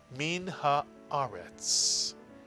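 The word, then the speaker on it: מן הארץ: Second syllable, ah. And third syllable, retz. Put the words together. Min haaretz. Min haaretz.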